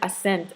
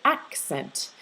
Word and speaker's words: accent: if not most situations where you have two c's you'll pronounce it so you'll have both the k and s sound okay c's the letter